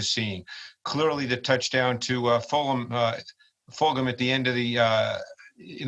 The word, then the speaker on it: Fulgham: I actually thought that, is it pronounced Fulgham? Fulgham, yeah.